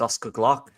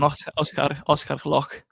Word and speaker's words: Gloukh: That is Oscar Gloukh, which I believe I've said right. Yeah. Yeah. Proper pronunciation, Oscar Gloukh.